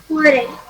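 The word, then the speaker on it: forêt: The T is pronounced at the end? No. I cannot hear you. foray.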